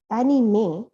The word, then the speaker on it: anime: the disney title track the word anime pronounced as annie may is an abbreviation of